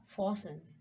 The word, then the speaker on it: fasten: Fasten, T is silent.